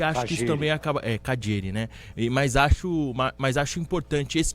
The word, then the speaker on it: Calleri: Do Pedro Cunha, como se pronuncia o nome dele, pro ouvinte que não tá ligado com a gente aqui, como se pronuncia o nome dele na província de Buenos Aires, é Cadieri. Um CH.